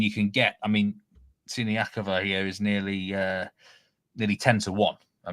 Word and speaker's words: Siniakova: Is that how do you pronounce that one? It's Siniakova.